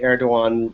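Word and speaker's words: Erdoğan: authoritarian policies of the air dhawan regime and the G is not pronounced because it has the dealy on top of it by the way so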